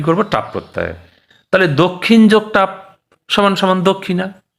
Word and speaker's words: দক্ষিণা: হ্যাঁ, এমনিতে কিন্তু বাংলায় আমরা দক্ষিণা বলি, কিন্তু সংস্কৃত ভাষায় সঠিক উচ্চারণটা মানে দক্ষিণা।